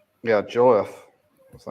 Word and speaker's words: Jouef: Yeah, Joef. Is that how you pronounce it? Jouef. Juif, yep. Juif.